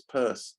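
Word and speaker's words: Peirce: I spelled it Pierce when actually it's pur.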